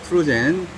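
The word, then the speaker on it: Trudgen: 그 영법 중에 하나가 뭐냐면, 자명 25m 찍고, 헤드업 자유형, 그리고 평형, 그리고 트루젠이라고 읽고, 트레젠으로 쓰는 것 같아요. 하여튼, 트루젠. 저는 트루젠이라고 합니다. 트루젠. 근데 글씨를 보니까 트레젠이라고요.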